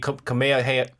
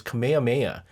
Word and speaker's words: Kamehameha: Dragon Ball Z Kamehaha Kamehameha Kameha Kamehaha. No, that's not how you say it. It's Kamehameha.